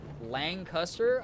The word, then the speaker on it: Lancaster: my husband's from and if you are anywhere but Lancaster you say it the way you just said it but if you're uh from there you pronounce it Lancaster okay that makes so